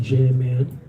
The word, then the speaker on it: Jam Man: No coincidence that scam rhymes with Jam Man.